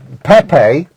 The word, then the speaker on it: Pepe: players warming up uh Pepe or pep whichever way you want to pronounce his name they they they they say pep in Portugal uh 80 classicos I